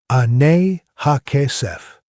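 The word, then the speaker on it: אני הכסף: The first code is ani ha kesef. Phonetically, anay ha kesef.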